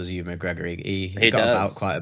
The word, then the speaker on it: Ewan McGregor: There's a lot of nods to trains in there but yeah, I just knew How do you pronounce his name? Ewan McGregor? Ewan McGregor.